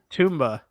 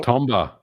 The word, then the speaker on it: Tomba: Tomba 2024 let's go you still didn't say it right you were so close you're very close tumba no Tomba TBA TBA TBA 2024 my